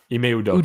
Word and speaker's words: Ime Udoka: Udoka, Ime Udoka. Yeah, Udoka, that's right.